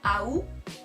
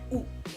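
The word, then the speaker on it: août: Algunos van a decir AU, pronunciando la A adelante de la palabra, y otras personas van a decir U, sin pronunciar la A.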